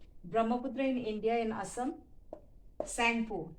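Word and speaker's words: Tsangpo: Brahmaputra in India, in Assam, Sangpo, T is silent, T, Sangpo.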